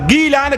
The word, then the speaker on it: گیلان: وجہ یہ ہے کہ اصل میں اس کا تلفظ گیلان گاف کے ساتھ ہے۔ اس کا تلفظ کس کے ساتھ ہے؟ گاف کے ساتھ، گیلان۔ اور ظاہر بات عربی